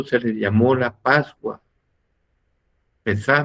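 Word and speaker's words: Pésaj: Pesá, me parece que es la pronunciación, Pesa, es la pronunciación, entonces eso es la Pascua.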